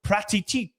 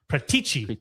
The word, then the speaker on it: Paratici: Fjordina have reached out to Spurs's Fabio Pratiti. Prat Pratiti Pratichi. That is a tough last name. Say Pratici. That is how you say it. I've said it for years for some reason. Pratici to take over as their sporting director.